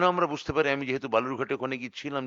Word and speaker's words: বালুরঘাট: সবথেকে বেশি ভোট পড়েছে বালুরঘাটে 72 শতাংশ সেই বালুরঘাট যাকে বিজেপি সাধারণত বেলুরঘাট বা বালুঘাট ইত্যাদি ভুল উচ্চারণে ডাকতে যাকে সিদ্ধস্ত এবং ওটাই ওই উচ্চারণটাকেই খুব সংগত বলে মনে করে বালুরঘাট আজকে উত্তর দিয়ে